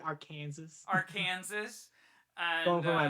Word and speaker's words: Arkansas: the weird laws, but Arkansas must be pronounced correctly. So if you're visiting, you have to pronounce it correctly. So for that moment, if you guys missed it, Adrian said Arkansas or something like that.